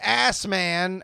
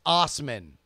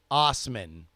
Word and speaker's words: Assman: alright alright alright David ass man has been denied a vanity license plate out in Saskatchewan Canada oh I'm sorry it is it is pronounced Osman Osman but he is so